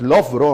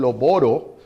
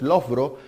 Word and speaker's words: Loughborough: La pronunciación de la palabra es Loughborough, aunque algunos le dicen Loboro. Esa es la mala pronunciación, es Loughborough.